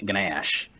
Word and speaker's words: gnash: can tell that they didn't say it with the silent G. You can just tell. Like, and this is rude. yeah. I'll make sure I get it. Gnash. Yep. It's so you don't actually pronounce it, but you just say it as if like you know it's there. Yeah, you gotta remember it's there.